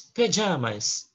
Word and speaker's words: pajamas: And the pronunciation is pajamas.